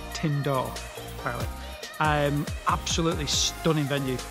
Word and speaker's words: Tyn Dwr: time we've been to tindor that's how you say it tindor apparently i'm absolutely stunning